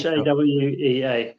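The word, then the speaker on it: Hāwea: They are reaching the different ridges after Lake Hawea. Is that how we pronounce it? Correct. Okay, it's okay. Hawea.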